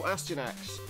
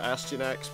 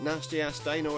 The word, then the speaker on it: Astyanax: And I'm calling it Astyanax because that seems to be how to pronounce that. They pronounced it Nasty Ass Dino. I don't think that's the right answer.